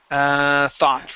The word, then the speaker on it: thought: Thought, right here. So instead of thought, it is an ah sound. Thaw, thought. Okay, thought. Okay, take out the oo.